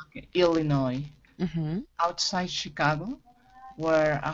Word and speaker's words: Illinois: Illinois. We don't pronounce the S. Okay. Illinois.